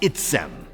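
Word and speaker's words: עצם: It is pronounced itzem.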